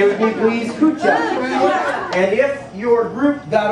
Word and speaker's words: Kucha: Say with me, please, Kucha.